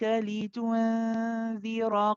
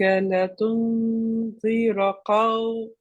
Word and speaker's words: لتنذر: It's the lam in litunzir has a kasra, not a fatha. I think you pronounce it with a fatha, so just be careful of that.